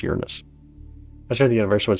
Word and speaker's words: Uranus: We actually pronounce it Uranus instead of Uranus. Obviously, a lot of people like to call it Uranus. So trust me, we've heard all the jokes. When you do astronomy, you hear all the jokes, but it actually is pronounced Uranus.